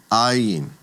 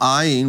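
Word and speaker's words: ayin: The next letter is called iin. Now ain, remember if you've taken Hebrew 101, is also considered to be a silent letter and will take on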